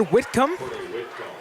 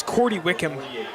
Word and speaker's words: Wickham: to number 14 cord whitcom and he was taken out of bounds by whan Iman I did pronounce Wickham's name wrong it is Cy Wickham and here it is